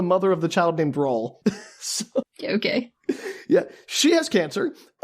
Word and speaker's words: Raul: I never thought about the fact that Raul rhymes with towel has a mother.